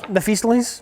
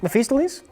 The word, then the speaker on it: Mephistopheles: Mephistopheles? Yeah. What? What's his name? Mephistopheles? That's not right. That's not right. Try again. Mephistopheles?